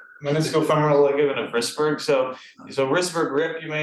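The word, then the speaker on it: Wrisberg: Starts with W and rhymes with Isberg. Meniscofemoral ligament of Risberg.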